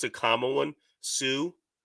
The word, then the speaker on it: TSU: Sue, which is spelled TSU. What it stands for is this side up.